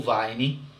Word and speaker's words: Veyne: Leia o que o historiador Paul Veyne, a gente escreve Paul Veyne, mas pronuncia Paul Veyne, diz sobre o assunto.